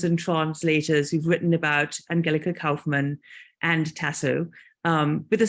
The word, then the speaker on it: Angelica Kauffmann: um first of all there is some controversy as to how to pronounce um Angelica Kaufman's name I am going with Angelica probably because I am half German so um some people